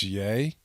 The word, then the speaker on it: Ye: How do you mispronounce 2 letters? It's Ye.